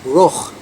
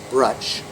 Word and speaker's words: Bruch: Baruch was changed to Bruch, B-R-U-C-H in Germany. Many Germans changed their names from earlier Jewish names. And when they came here, allegedly nobody could pronounce Bruch. They would have said Brutch.